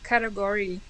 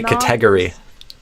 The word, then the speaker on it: category: A lot of Brazilian say kategory.